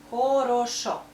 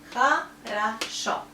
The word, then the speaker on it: хорошо: Хорошо. But stress is here. So we pronounce O like O, only here. Хорошо.